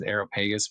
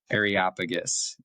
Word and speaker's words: Areopagus: I used to say this as Aeropagus, but my mom corrected me and my dad that the proper pronunciation, and they're right, is Areopagus.